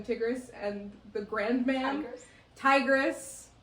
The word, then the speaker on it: Tigris: Tigris. It's spelled like the Tigris River. And I've also heard it both ways.